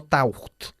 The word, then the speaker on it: taught: El pasado de este verbo se pronuncia taught, no taught. Okay, taught. ¿Vale? Taught, casi como tortilla.